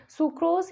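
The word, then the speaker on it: sucrose: Then उसके बाद सुक्रोज या सक्रोज, आप किसी भी तरह से इसको प्रोनाउंसिएट कर सकते हैं।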